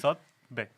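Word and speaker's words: Zothve: Zothbe? Yeah. Zothbe? Is that close? You're like Sotbe. Zothbe. It's Sotbe.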